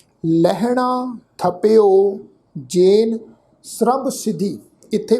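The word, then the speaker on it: ਸਰਬ: लहणा थपियो जेन सरब सिद्धि। इत्थे भी ख्याल रखो, शब्द है जी ससा, फिर ससे के पैर में अद्धा रारा, फिर बब्बा अखर। तो इस शब्द का पाठ उच्चारण करांगे सरब।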